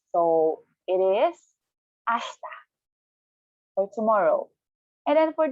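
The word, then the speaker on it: あした: For tomorrow, we have ashta. Again, tomorrow, ashta. One time, slowly, per syllable, it's ashita. Now, although it is spelled as ashita, there's a silent E or I.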